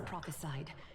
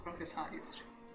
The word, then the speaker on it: prophesied: I think she stumbled a bit on the prophesies to just as prophesied on the prophesied. Maybe I am the one. God was always prophesized. Prophesied is the right way to say it.